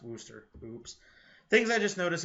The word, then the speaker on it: Worcester: And what we're going to see is, I think that should actually be spelled Worcester, but it's pronounced Worcester.